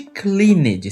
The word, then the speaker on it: cleaned: regular ele no passado preste atenção Ele termina com a consoante n esta consoante n está nessa lista se a consoante n não estiver na lista o verbo no passado não vai ter som de T muito menos som de cleaned você não pode ler os verbos do jeito que estão escritos esse verbo tem som de D repeat cle Clean ou